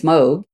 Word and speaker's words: Moog: But I I I will just say then that I have to explain to people so many times that it's Moog and Moog rhymes with Vogue.